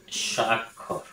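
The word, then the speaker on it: স্বাক্ষর: যেমন একটি হচ্ছে সাক্ষর আরেকটি হচ্ছে সাক্ষর। দুটির উচ্চারণ কিন্তু একই। একই উচ্চারণ।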